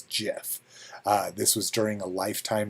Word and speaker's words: GIF: declared the acronym gif should be pronounced with a soft g as jiff this was during a lifetime achievement award at uh at the webby awards in 2013.